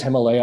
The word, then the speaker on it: Himalaya: region Himalaya region sorry I want to say it correctly it is Himalaya I've been corrected for